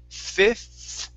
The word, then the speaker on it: fifth: so here it is fifth so make sure with your tongue you are pronouncing the th fifth fifth fifth okay that's better make sure to use your tongue stick your tongue between your teeth okay so it's fifth